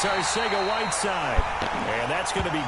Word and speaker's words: Arcega-Whiteside: And it's Arcega-Whiteside.